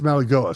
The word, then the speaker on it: Mauigoa: Francis Mauigoa. You're close. I think it's I think it's Mauigoa. So, you got close.